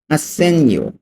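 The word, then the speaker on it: assegno: হবে আসে সেন ইউ আসেননিও আসন ইউ অর্থ চেক আসেনিও ঠিক আছে এখানে জি এর উচ্চারণটা উচ্চ থাকবে জি এর উচ্চারণটা হবে না চেক আসন ইউ ইংরেজিতে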